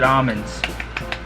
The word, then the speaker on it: almonds: Next is Hawke's Bay Black Doris Plum and Roasted Almonds. Notice how I didn't pronounce the L.